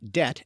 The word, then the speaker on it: debt: is when for instance the silent letter B is added to words like debt and doubt because it shows they came from the Latin words Debbie tomb and do beat RA even though they were never pronounced that way in English in another example the